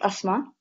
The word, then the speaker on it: Asma: so my name is Asma and I will start by saying that'll take your breath away and on that no it's not pronounced like the condition it's actually us ma'am just so you know